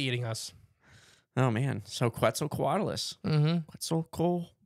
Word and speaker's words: Quetzalcoatlus: quetzalcoatulous that's so cool quetzal quadalis there we go I said it right that time there we go I think you were going for six in that last time dang it it's hard it is it's a hard word to say properly but the five syllable trick helps yeah still deliverable still